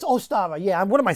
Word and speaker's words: Ostara: It's Ostara.